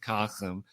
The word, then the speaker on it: Kasim: I'm going to try to keep it as short as I can, but Kasum, his name rhymes with awesome, and he is awesome.